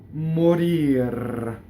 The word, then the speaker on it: morir: The final R is rolled. Mmorir.